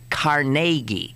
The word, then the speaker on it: Carnegie: out was that the rest of the world mispronounces caragi here it is caragi right and everybody else it's Carnegie Carnegie and I I'm assuming that we've got